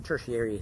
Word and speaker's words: tertiary: Lyft was like a tertiary mode. I mean, tertiary, that's how it's supposed to be pronounced.